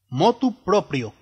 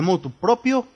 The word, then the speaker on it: motu proprio: voluntad si se emplea se debe omitir la preposición y pronunciar lo propio y no propio es incorrecto decir de motu propio o por motu propio